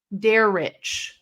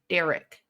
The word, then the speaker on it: Dar: is stupid expensive hello my name is Dar that's how you say my name it's not Derek der hi good good afternoon